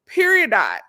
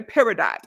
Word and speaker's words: peridot: Peridot. Per- Some people say peridot. I like to say peridot. Per- Per- like period poo. But peridot.